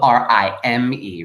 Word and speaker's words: rime: it all rhymes but you may have noticed that it's not spelled r h y and e no no no no it's spelled r i m e right the rhyme of